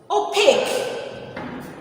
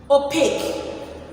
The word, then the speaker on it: opaque: to talk about okay a second keyword is opaque opaque look at the spelling very carefully and the pronunciation opaque o p a q u e o p